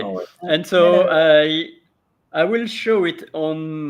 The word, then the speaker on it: manœuvre: It's manoeuvre. Manoeuvre, right? Voilà, with the re, manoeuvre. Manoeuvre. Ouais, and after the V, you pronounce the R of vre. Vert, like that.